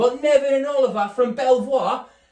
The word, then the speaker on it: Belvoir: We've got Neville and Oliver from Belvoir. Apparently it's pronounced Beaver, don't sound right.